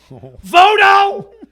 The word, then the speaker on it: Votto: Votto! You're in Cincinnati. How can you not know how to pronounce Joey Votto's name?